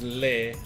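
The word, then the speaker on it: leh: Yeah, L-E-H, by the way. It's pronounced lay.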